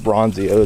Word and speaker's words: Ronzio: it all the time ronzio people always mess up ronzio it's s it's like it's it's like it's spelled Ron z o r o n z i o I always tell people